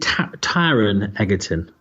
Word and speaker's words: Taron Egerton: And yeah, is it Taron Egerton?